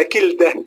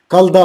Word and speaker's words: كلدة: يعني ما زي شريف يتجرأ ويقول قلدة وهو اسمه كلدة، اسم برضه يعني علامة في التاريخ، يعني ازاي misuse the name ازاي يعني.